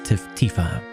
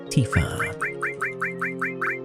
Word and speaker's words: Tifa: Oh wait, no, that's Tifa.